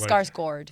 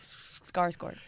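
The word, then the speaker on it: Skarsgård: And it's selling scars guard right. It was just pretty like scars gourd. Scars gourd.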